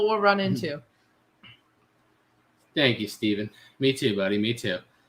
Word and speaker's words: Steven: steven spelled like me i bet you get a lot of people calling you stefan don't you it's an annoying part of having your name stephen like just like me my name is steven by the way spelled exactly like that and i get called stefan way too much and then like when